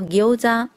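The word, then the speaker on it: 餃子: 那煎饺的日文呢是念作 gyoza， gyoza 汉字是写成饺子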